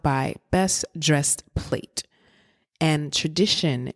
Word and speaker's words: TraDISHon: And TraDISHon in this instance is spelled TRA dish, as in dish plate, right? ON.